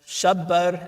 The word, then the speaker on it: Shabbar: So Rasulullah asks what were the names of Aaron's sons, and he says Shabbar and Shabir. That's the Arabic pronunciation of it. They're Hebrew words.